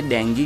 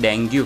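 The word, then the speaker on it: dengue: है, मैंने बोला मैडम डेंगू होता है, पर उस टाइम पे मैं गलत था। सब लोग बोलते हैं डेंगू, पर डेंगू नहीं, डेंगी, उसका प्रोनाउंसिएशन डेंगी था।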